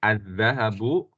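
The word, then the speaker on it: الذهب: Ya, yang betul bacanya adalah azzahabu ma'dinun. Azzahabu ma'dinun. Ya, azzahabu. Azzahabu itu bukan pergi ya. Kalau pergi ituhab. H-nya panjang. Ada alifnya azzahab atau azhab ini artinya pergi. Tapi kalau h-nya pendek, azzahab ini artinya apa?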